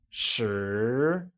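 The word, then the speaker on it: 十: 10 becomes shi and is pronounced with a mid-rising tone, like shi.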